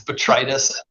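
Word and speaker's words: botrytis: Yeah, that's betritis.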